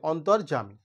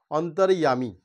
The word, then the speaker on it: অন্তর্যামী: যেমন দেখো, আমি যদি এইটা লিখি যে অন্তর্যামী, আমরা বাংলাতে কি বলি? অন্তর্যামী, কিন্তু এর উচ্চারণটা অ্যাকচুয়ালি অন্তর্যামী। এটা হচ্ছে সংস্কৃত ভাষায় উচ্চারণ।